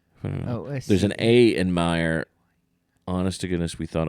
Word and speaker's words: Mayer: Right, but it's still Oscar Mayer. Meyer. It's Meyer. Oscar It is Oscar Meyer. Meyer, but it's spelled with an A.